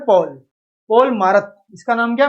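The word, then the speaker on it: Marat: तो मारत ने क्या बोला भाई, मारत या मरा भी बोल सकते हैं आप इसको, टी यहाँ पे साइलेंट है, ने अपने अखबार लामी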